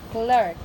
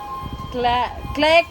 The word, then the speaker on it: clerk: No, you forget R. You read like this. Click only. Click. This one. Yeah. Yeah. You pronounce like that, which shouldn't be. It must be clerk. Yeah. You got it. Okay. Yeah. Okay. Don't forget R.